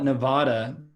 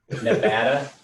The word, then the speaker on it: Nevada: If you call it Nevada, then Nevadans know you don't live here. Nevada? Nevada is how they say it out here, which was interesting when I moved here.